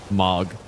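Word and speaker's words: Mohg: Mog. I should start saying that. Sounds cooler than Moog, I think.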